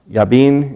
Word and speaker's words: Jabin: into the hand of Jabin king of Canaan yea bean and pronounced in Hebrew who rain up in